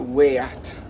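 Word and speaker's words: Ghaiyyath: irish champions takes uh gayeth and magical are going to come up against each other again and we we all pronounce gayet's name incorrectly in fact um it's uh way at because it's arabic but he's an unbelievable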